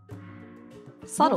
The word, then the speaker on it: subtle: know that uh and sometimes there are letters in Words that we don't say yeah the B is subtle exactly that's the spelling